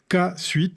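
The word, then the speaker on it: kSuite: Non mais mais allez faire un tour sur K suite. C suite hein comme ça se prononce.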